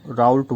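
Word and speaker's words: Raoult: फिर इसको कुछ लोग राउल्ट बोल देते हैं, उच्चारण में भिन्नता है, राउल बोल दो या राउल्ट बोल दो, जैसे भी नाम से उच्चारण करना चाहो दोनों ही सही हैं।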